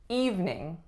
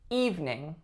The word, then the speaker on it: evening: Number 4, we have the word evening. Evening. Now this one may look like it is evening. Evening. But again, we take out that middle syllable and we say evening.